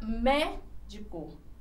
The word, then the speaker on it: médico: E aqui eu tenho a palavra médico. A sílaba forte, ela está aqui, ó, na antepenúltima. Então, ela é classificada como proparoxítona.